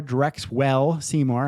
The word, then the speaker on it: Drexwell Seymour: excellent excellent okay so you are Drex well Seymour I hope I'm saying that right your nickname cook I am I am M yes you pronounce it properly correct excellent can I call